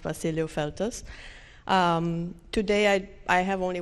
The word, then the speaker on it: Vasiliu-Feltes: but if you really want to know it's pronounced Basilio filters today I I have only one disclaimer I